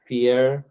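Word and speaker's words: vier: Yes, so Wajiha तौफीक ने सवाल किया कि V is pronounced as F. Yes, this is true. So welcome to German. And V is F. Oops. V is F. So इसको हम बोलेंगे fear tell.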